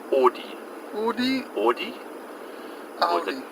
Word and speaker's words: Audi: they like to say Audi. Audi? Audi? Or is it Audi? Audi patent. Or Audi patent. Audi patent. It's like Aud, like fraud. Audi, that's why they do it.